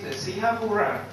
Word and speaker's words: Singapura: Singapore means Singapura. Pronunciations are different.